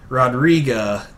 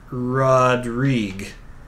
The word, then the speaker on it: Rodrigue: Rodriga, it's Rodrigue. Really? It's just pronounced Rodrigue? I've never seen Rodrigue pronounced like Rodrigue, but I will take your word for it. It is your last name. You would know best. How do you not pronounce the UE on the end?